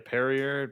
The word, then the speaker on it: Perrier: what was what how was the other one pronounced pierre right pierre carrier be a perrier not a fan at all but it's just